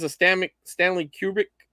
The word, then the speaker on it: Kubrick: says a stomach stanley kubrick uh i can't say his name right now cubic collection no not cubic cubic kubrick there you go who kubrick you're